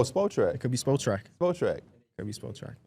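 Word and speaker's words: Spotrac: Oh, Spot Track. I think I said Sport Track. It's I don't know which one it is. So that's why I asked. It's spot. There is no R in sport.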